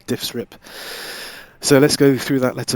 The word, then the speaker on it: DIFSRIP: what's known as the diffs rip acronym uh i will put some text on the screen to spell that out but it's d-i-f-s-r-i-p diffs rip so let's go through